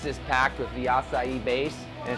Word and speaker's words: açaí: want a fresh smoothie acai that is like probably the most mispronounced word ever every time i go somewhere can i come in makai bowls yeah i know all right say it again acai let's check this